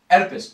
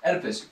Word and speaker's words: Oedipus: the story so this I mean Oedipus Oedipus you got you guys got that right Oedipus Oedipus okay what